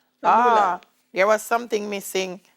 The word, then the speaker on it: Kalula: If I didn't, pronounce it for me. It's Kalula. Kalula. Kalula.